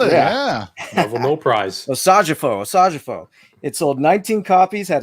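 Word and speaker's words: Osajyefo: for I the pronounce his name. Hey, killed it. Yeah. Level no prize. Osajifo.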